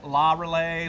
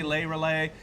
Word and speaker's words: Le Relais: lesson here it's right because some say la la relay lay relay yeah because it's the masculine uh pronunciation law is the feminine law is the